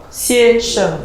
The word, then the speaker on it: 先生: 下午好, 下午下午好先生. 先生. The Okay. E is not A.